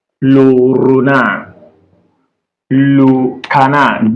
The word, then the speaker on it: renard: So, D is silent when it is the last letter. Our D in French is silent when it is the last letter. So, e.g., le canard, le canard, le renard, le canard, D is silent.